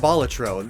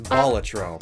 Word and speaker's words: Balatro: And, by the way, turns out it is pronounced Balatro. It's Latin for joker, or buffoon, which is what the game's all about. And the Latin way of pronouncing the word is Balatro. So that is the proper way of saying it. Whereas Balatro is more common, so really...